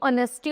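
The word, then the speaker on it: honesty: Umbrella an hour N ऑनेस्टी एंड मैन। तो जो ऑनेस्टी और ऑनर है इनमें क्या है? एच साइलेंट है। ओ साउंड से ओ साउंड आ रही है।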